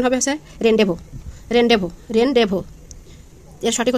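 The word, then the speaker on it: rendezvous: এটা মনে হচ্ছে রেনডেজভাস, কিন্তু আসলে এটা না, এটার সঠিক হচ্ছে যে হবে এর উচ্চারণ হবে হচ্ছে রেনডেভো, এর সঠিক উচ্চারণ হবে রেনডেভো।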